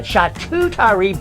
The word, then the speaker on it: charcuterie: trouble with that yeah shot tutari board is the proper pronunciation if you saw the